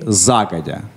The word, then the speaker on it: загодя: Постановки ударения в данном слове. И загодя.